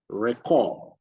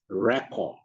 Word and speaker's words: record: Think about the word record and record. Same spelling, but the stresses are at different places. So we have for record, you see RE, stressed. And then record, you see CORD, stressed.